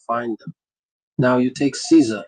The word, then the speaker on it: Caesar: Now you take Caesar. It's Latin. In Latin it's pronounced like Kaiser with a hard C.